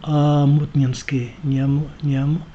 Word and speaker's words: Омутнинский: Правильно говорить Омутнинский, в общем, на букву И, Омутнинский.